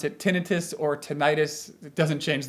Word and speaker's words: tinnitus: you pronounce it but i would say that tinnitus is a more accurate pronunciation the suffix itis itis refers to inflammation like sinusitis that means inflammation of the sinuses so if you say tinnitus you're sort of implying that it's an inflammatory condition and it's not but